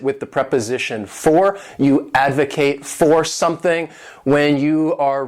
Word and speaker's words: advocate: This word has 3 syllables and the stress is on that first syllable, advocate. And to advocate means to show strong support for something.